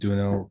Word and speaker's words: Duno: My name is Duno. First name's pronounced like the game Uno.